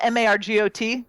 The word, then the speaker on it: Margot: And it is spelled Margot. Correct. Yeah. Yeah. I'm just gonna have a little trouble with that T, but it's worth it.